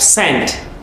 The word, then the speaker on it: scent: it's science yes yes then we have sent scent don't say scent is sent s s c c